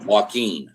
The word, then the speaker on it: Walken: Wind. Is that how you say it? Walken. Walken.